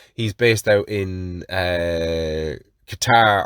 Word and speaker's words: Qatar: based out in uh qatar or qatar as he endlessly tells me it's pronounced he's in a